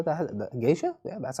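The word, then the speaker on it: geisha: flights he's pictured with G gisha how the gisha yeah that's how you pronounce it enjoying unique dining coffee uh it's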